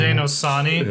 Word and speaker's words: Haudenosaunee: TJ jumps in with the pronunciation. Haudenosaunee.